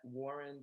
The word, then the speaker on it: Wuhryn: Yes, you can follow me on Instagram and Twitter at Warren. That's WuhrynDumas. The S is silent.